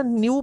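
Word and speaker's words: nu: इनू ना न्यू pronouns करीदा, न्यू मैं देखो पंजाबी च भी लिखा हुआ है न्यू, तो न्यू प्रनाउंस करना है इसमें।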